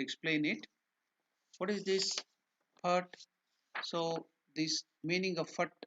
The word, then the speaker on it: phat: So here we have to use this Mahaprana, Pa. That's why PHAT. We have given that. In Sanskrit or in that Hindi word we can easily understand, but in English we can only explain to that extent. So it is Phat. So PHAT, Phat. That is how it has to be pronounced.